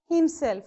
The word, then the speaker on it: himself: Himself. So all self words, selves and ever, will take the stress mark on itself.